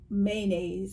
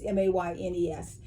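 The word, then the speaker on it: Moynes: that Katie Kirsten and Blake Mayonnaise, or Mayonnaise, he's Canadian. So it's all in the way that it's pronounced, but it's Maynes.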